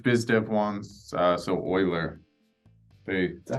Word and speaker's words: Euler: and then which Biz Dev wants uh so Euler they that's how you pronounce it it's Euler wow e-u-l-e-r don't they lock people out of